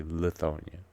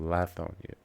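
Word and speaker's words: Lithonia: Well, anybody else you hear pronounce the name of this song is going to say Lethonia because they don't live here. But if you ask anybody who lives inside of Dec County, it's called Lonia.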